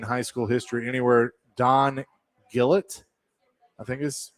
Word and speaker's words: Gullett: school history anywhere, Don Gillett, I think is how you say that. He won the World Series 4 years in a row with the Reds and Yankees. Gillett or Gullett? Gullett. Okay. Gullett.